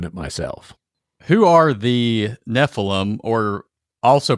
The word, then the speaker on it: Nephilim: pronouncing it would be Nephilim or Nephilim um Hebrew unlike English likes to put the accent on the last syllable on the ultimate so anytime you're looking